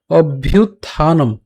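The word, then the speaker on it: অভ্যুত্থানম: এই জিনিস তিনটা পার্থক্য ভালো করে বুঝতে হবে উচ্চারণটা কেমন হচ্ছে ধর্মসীয় ধর্মসয় গ্লানির ভবতি ভারত এরপর অভ্যুতানম অভ্যুতানম এ জায়গায় খেয়াল করি উচ্চারণটা প্রথমে অব্য উচ্চারণ করলাম অর্থাৎ ভ হসন্ত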